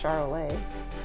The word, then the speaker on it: Charolais: I assume they're French cows, so I'm thinking it's Charolais.